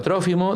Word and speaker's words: Trófimo: También fue testigo junto con Trófimo, con acento en lado, Trófimo, del arresto de Pablo, y seguramente lo habrán acompañado el tiempo que estuvo preso en Cesarea.